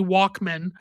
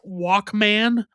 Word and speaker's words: Walkman: something called a Sony Walkman. And a lot of people, in my opinion, over pronounced Walkman as Walkman. But in my personal opinion, it should be pronounced more like it's a last name.